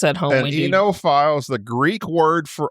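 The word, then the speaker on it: oenophile: OENO and then file, PHILE. I listened to it on YouTube to make sure, and they said it's enophile.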